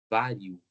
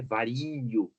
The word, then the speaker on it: vário: Vário, vário, né? Viu? Se I nem é... Se fosse falar vario, aí já fica estranho, né? Não é vario, é vário.